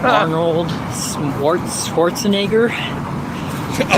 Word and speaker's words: Schwarzenegger: Yeah, like swatching. He says swatching. I'm going to say it right. Schwarzenegger.